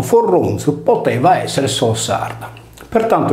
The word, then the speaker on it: Foroniu: Dagli esempi sopra riportati appare evidente che la divinità di Foroneo, con l'apertura della vocale I in E, scritto Forronio e pronunciato Forronzo, poteva essere solo sarda.